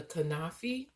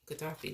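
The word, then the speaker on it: kataifi: Okay, so I was able to make the uh the filo dough or the ka the the kafi kafi. Katafi, that's what it's called.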